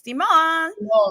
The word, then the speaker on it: Symone: So Jessie's Haitian, I'm Louisiana Creole, and that's actually how my family says my name. It's Symone. Yeah.